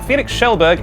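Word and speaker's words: Felix Kjellberg: Fans are begging Felix Schellberg, I'm going to show off that I know how to pronounce his name, Felix Schellberg, aka PewDiePie, to sell his bathwater in the style of Belle Delphine.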